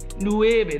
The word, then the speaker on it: nueve: nine and the way Nueve that's how you say it in Spanish good tackle bro huh